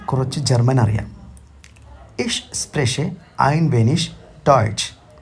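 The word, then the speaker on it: wenig: German അറിയാം ഇഷ് ഐൻ വെനിഷ് ടോയ്റ്റ് ഇതിൽ നിങ്ങൾ ഉച്ചാരണത്തിൽ ശ്രദ്ധിക്കേണ്ടത് ഡബ്ല്യു ഇ എൻ ഐ ജി വെനിക്ക് എന്നുള്ളത് വെനിഷ് എന്ന് തന്നെ ഉച്ചരിക്കണം ഐനൻ മോമെന്റ് ബിറ്റ് ഐനൻ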